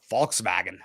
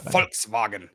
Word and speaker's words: Volkswagen: Volkswagen or f um Volkswagen is pretty much folk is the peoplek and vagon is the wagon so it's the people's wagon so folks like folks yeah like folks it's